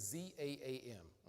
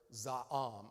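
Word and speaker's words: זעם: It's all a matter of where you put the emphasis, where you put it on the first half of the word, za'am, or the last half, za'am, all right?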